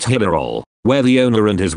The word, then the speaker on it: Hillerød: Meanwhile, Jørgen Helm had booked me into a nice hotel at Hillerød, pronounced Hillerol, where the owner and his wife made me very welcome indeed.